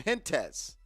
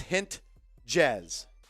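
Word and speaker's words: Hentges: It's at the dish, and he watches ball one go by from Hintez. I think it's Hintez, if I'm saying his name wrong. No way it's Hint-Jez.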